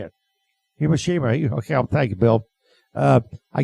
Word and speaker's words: Hiroshima: Hiroshima.